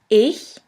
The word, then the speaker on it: ich: In the first case, this letter combination sounds simply like the H in the word huge. Here we have the example of the word ich, which means I.